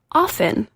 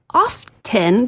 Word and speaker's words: often: I'm that lady mispronounced the word often. It is often the no T in the dictionary or sorry, it's often in the dictionary. The T is silent.